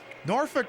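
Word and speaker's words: Norfolk: Norfick always perplexes me because it means the L is silent or the L is pronounced Yeah, the L is silent.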